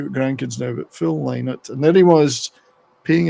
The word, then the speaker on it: Lynott: Because for years, like most people would say Lynott. Phil Lynott. Well, his daughters. So yeah, it's pronounced Lynott, according to them.